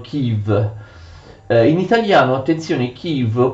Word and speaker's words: Київ: che gli ucraini scrivono in questa forma e pronunciano kim in italiano attenzione chi lo può essere traslitterato